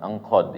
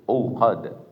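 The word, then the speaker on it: عقد: Jangan angqad ya. Kalau angqad salah bacanya itu, Pak. Enggak ada ikhfa di situ. Uqad.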